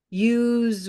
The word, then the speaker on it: use: what is happening here the E of use is silent so let me just Mark that so we're not paying too much attention to it we'll do this it's a silent sound or I can take